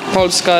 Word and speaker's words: Polska: Polska is Poland.